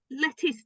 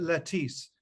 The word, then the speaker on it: Lettice: So Robert and Penelope were the children of Lettice Knollys. That's how I pronounced it. It's just Some such a people great pronounce it lettuce, but I always think of a lettuce.